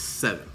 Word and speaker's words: Se7en: I'm saying it's seven because it's spelled S-E-7-E-N.